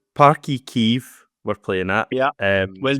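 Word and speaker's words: Páirc Uí Chaoimh: In terms of the game itself, so it's Parky Kiev we're playing at. Yeah, well done on the pronunciation.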